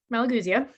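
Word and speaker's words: Malagousia: one that i need to actually read the pronunciation because i always get it wrong malagusia malagusia thank you for the intonations here for me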